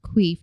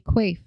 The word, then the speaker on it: Quaife: Not Queef, Josh. You gave out to me Quaife.